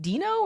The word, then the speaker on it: Deno: for and that's why their logo is is Dino now so it's it's Dino uh denno is technically wrong and I think Ryan doll